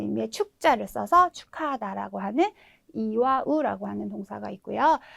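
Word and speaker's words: 祝う: 동사 같은 경우에는 빌다라는 의미의 축자를 써서 축하하다라고 하는 이와 우라고 하는 동사가 있고요. 네, 무엇을 숨기다라는 뜻의 네, 이거는 은폐하다 할 때 은자인데요. 카쿠스라고 읽어주시면 되겠죠.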